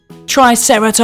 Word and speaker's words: Triceratops: have with us today Triceratops try Sara tops can you say it